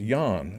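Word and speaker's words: Jan: in English is John in Polish it's it pronounced jaan although it's spelled J a M and that's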